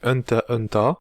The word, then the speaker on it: Hunter x Hunter: Alors déjà, on dit Hunter Hunter, donc en fait le X ne se prononce pas.